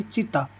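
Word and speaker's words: città: उसको इटालियन बोलते हैं चीता चीता है देखो सी आई टी टी A Italian में पढ़े ची ई त अ चीता चीता यानी सैर चेवेलो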